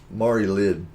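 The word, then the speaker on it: Mari Lwyd: Mari Lid. That's like a Christmas venereal disease. It's Lwyd. I think it's Mari Lid, because I think the W is silent, if I remember right.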